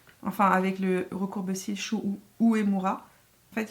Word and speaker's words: Uemura: Enfin avec le recourbe-cils Shu Uemura. En fait il faut que je le prononce à la japonaise. Uemura.